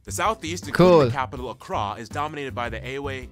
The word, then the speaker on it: Accra: that's how you pronounce it, Accra, located in the southeast along the coast.